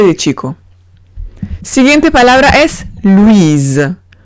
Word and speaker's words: Louise: Siguiente palabra es Louise. Louise. Veo una O-U-I. La pronuncio oui. La S entre dos vocales se pronuncia Z. Y digo Louise. Última palabra, cheveux.